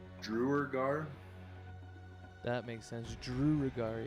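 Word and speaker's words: duergar: i think that okay how do you pronounce that drew regard i can't i can't do it i think it's drewer gar that makes sense drew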